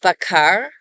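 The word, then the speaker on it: בָּקַר: They identified 7 iterations of bakar, with a kamatz and then a patach, meaning inquire, seek, or search.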